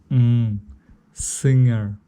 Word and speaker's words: singer: В данном случае в слове singer практически не произносится слово G, буква G и R в британском варианте. Singer, то есть вот эти 4 буквы, первые 3 и 5 буква.